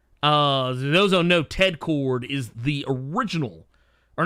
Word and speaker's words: Kord: But yeah, basically, all we know is that her name is going to be Cord, but it's spelled Kord, the way Ted Cord's last name is.